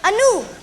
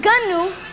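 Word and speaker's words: gnu: saw wildebeest you know anu well it's a gunu but the g is silent and i guess you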